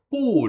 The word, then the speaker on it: 不: Jadi bacanya pu di sini ya, nada keempat.